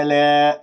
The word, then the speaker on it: ألا: ألا، لا ألا، ألا، ألا، الباعد بين الفكين، اللسان مرتاح، لا تبتسم بالشفاه حتى لا تطلع ألف ممالة.